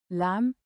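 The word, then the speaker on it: lamb: जब एम के बाद बी आए तो बी अक्सर साइलेट होता है। उदाहरण लम लैंप बम बम थंब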